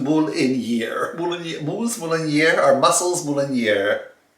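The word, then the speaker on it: Marinière: It's pronounced Mouliniere.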